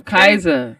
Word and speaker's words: KYZA: Nigga, 'cause they- KYZA 5.9. Oh, Kaiser. Kaiser, not Kaiser Permanente.